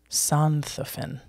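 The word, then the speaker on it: Sonthofen: is an exception um in the city of sondhoffin santhofin perfect perfect pronunciation can you please right here s-o-n-t-h-o-e-n is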